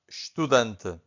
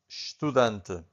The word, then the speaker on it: estudante: This is estudante. Again, estudante. So the only thing that you can hear from the first syllable, it's a sh, right?